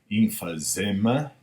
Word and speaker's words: emphysema: Not everybody who smokes will die of how you pronounce this word? Emphysema.